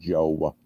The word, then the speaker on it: Jowe: on phonics thing mm-hmm j-o-w-e those long the e-silent i don't know maybe it's just a mid-east thing but everybody pronounces my name joe so i went with